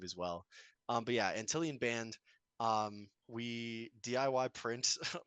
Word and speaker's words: Antillion: for Merch music or antillan in general where can they find it so we're basically or antillan band everywhere spelled like ant and million but like no n um and that's Twitter